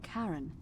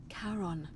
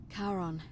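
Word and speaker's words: Charon: it's just as you described it only your pronunciation is a little off the name you heard wasn't Karen it it was c h a r o n as in karon the Fairman of the Dead karon who in exchange for the right coin helps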